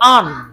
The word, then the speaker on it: earn: EARN আর্ন হওয়ার কথা, কিন্তু আমরা যখন উচ্চারণ করতে যাব তখন আমরা আরটাকে হাইড করে ঠিক এভাবে বলবো আর্ন।